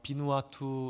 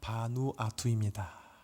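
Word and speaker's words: 바누아투: 그래서 어 비누아 이렇게 또 혹은 혹은 바투와 이렇게 이제 발음하시는데요. 정확한 이름은요. 바누아입니다.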